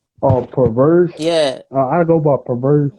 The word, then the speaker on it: Purverse: How do you pronounce it again? Pervert. Yeah, Perverse.